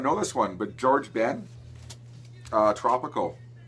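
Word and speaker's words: Jorge Ben: know this one but George Ben uh tropical George Ben or horge depending on how you want to how you want to pronounce it but I I'll call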